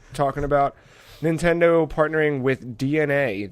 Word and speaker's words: DeNA: Because we're no, it makes sense because we're talking about Nintendo partnering with DNA. That is DENA, but pronounced DNA.